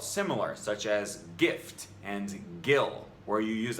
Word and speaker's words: GIF: The actual inventor of the GIF says it's pronounced GIF.